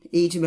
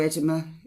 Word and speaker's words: edema: It may be of help in preventing congestive heart failure or edema of heart origin, edema or edema. I've heard it pronounced both ways.